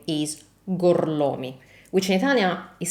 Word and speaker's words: Gorlomi: Remember, the correct way to say this is gorlomi. Gorlomi? Lo pronuncio correttamente? Sì, corretto. Gorlomi? Per cortesia, me lo ripeti ancora? Gorlami.